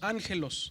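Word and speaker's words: ἄγγελος: Pero cuando hay dos gamas juntas, la regla de la gramática del griego moderno dice que cuando hay dos gamas aquí se pronuncia como una ng, por eso decimos ángelos o ángel, ¿verdad?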